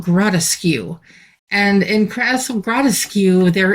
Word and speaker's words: Grotteskew: Now, in my brain, I was spelling it like the word grotesque. I was thinking, okay, that's just a different way to pronounce grotesque. But no, it's Castle Gratcu.